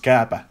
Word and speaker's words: Kääpä: Niko Kääpä and Alex Kääpä, but actually it's pronounced Kääpä in the real language.